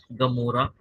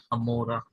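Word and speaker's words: Gomorrah: जैसे कि आपको दो शब्द बताता हूँ, जैसे कि है गाजा और दूसरा है गमोरा। ये दो शब्द आपने सुने होंगे, जिसका एक्चुअल जो क्या बोलते हैं, बोली या फिर प्रोनाउंसिएशन, उसके एक्चुअल जो है वो है अज्जा और अमोरा। तो वो अ से होता है, तो वहां पर वो भी हमें दिखता है।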